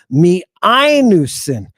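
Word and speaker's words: μιαίνουσιν: Miainusin. Accent over the iota. Now, the iota and the alpha are a diphthong. We're about to look at those. Miainusin.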